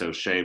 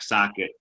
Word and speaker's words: Sochet: name is spelled s-o-c-h-e-t so it's it should be O'Shea but it's not socket and that said Instagram